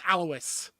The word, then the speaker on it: Alois: And as well, Alois, I keep wanting to say her name super French. It's just Alois. It's just Alois is like the German Louise.